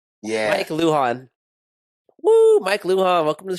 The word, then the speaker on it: Lujan: do how do you pronounce that did I pronounce that right Luhan Luhan yeah Mike Luhan Mike Luhan welcome to the show buddy hey